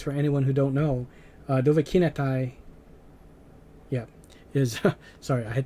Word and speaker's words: Dovahkiinathay: so in case for anyone who don't know dovahki netai yeah is sorry i had to think for a moment that i was juggling between the old way i was pronouncing it uh dovahkinatai is the creator of this mod here which